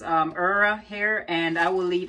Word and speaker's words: Eerya: And the company is pronounced Eerya hair, and I will leave everything down below for you.